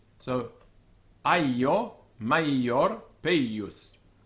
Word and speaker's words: maior: Now, the reason for that is that this I is actually doubled, and it's maior, peius, aio. So it's a long syllable because it's aio, maior, peius. This is the way the dictionaries write it. It's not maior, peius, it's peius, maior, aio.